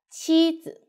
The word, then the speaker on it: 妻子: So pay attention here, the 子 should be read short and light. 妻子.